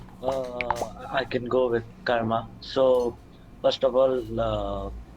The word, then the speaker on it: karma: than anyone else so first of all it's not pronounced as comma it is called Curve